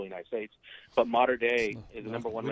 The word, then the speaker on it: Mater Dei: played at Mater D, right? Mater Dei, Dei, excuse me.